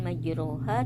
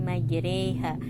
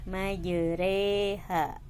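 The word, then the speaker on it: مجريها: Cara bacanya jadi bukan majruha tapi majreha. Ini yang berdiri di sini ini bukan harokat ya, tapi ini adalah alif kecil.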